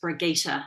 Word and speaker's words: Brigitta: And I was raised with it being pronounced Brigitta, which is the Germanic pronunciation.